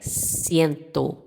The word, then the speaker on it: ciento: A gente sabe, né, que se escreve com o, mas se pronuncia como u. E no espanhol é ciento.